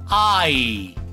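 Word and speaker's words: eye: totalmente diferente ok bueno luego tenemos la palabra ay ay y vieron cómo se escribe ahí vieron cómo se escribe ahí suena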